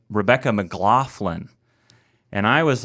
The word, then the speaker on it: McLaughlin: your name correctly so his his whole family says McLaughlin which is the typical American way to say it I believe but I say McLaughlin and I just spell